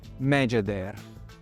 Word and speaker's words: Megeder: È seguito dalla bocca che, come forse vi ricorderete, si legge R. Insieme si leggono Megeder, che è proprio il nome delle 2 signore del faraone Cheope, sepolto nella Grande Piramide.